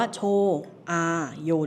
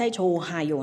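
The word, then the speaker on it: 좋아요: โช อ ดี ค่ะ ออก เสียง ว่า โช โย ได้ เลย นะ ไม่ ใช่ โช ฮาโย นะ คะ เพราะ ว่า ตัว ฮี อึด อ่ะ เขา ไม่ ออก เสียง ใช่ ไหม เลย ออก เสียง เป็น โช อาโย โชโย แปล ว่า ดี เดิม ๆ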